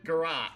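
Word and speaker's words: garrote: That's how you pronounce it. Garrot.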